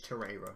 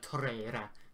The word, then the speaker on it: Torreira: Apparently it's Torreira, yeah. But like, you meant to roll your tongue for the R, apparently, like Torreira.